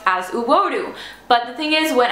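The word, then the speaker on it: uwodu: right there um your beautiful in Cherokee is pronounced as uodo but the thing is when I tried to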